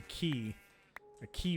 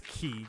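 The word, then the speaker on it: quay: Or I guess actually the proper term for it would be a key wall, spelled Q-U-A-Y. Yep, that's how that's spelled. And it says key.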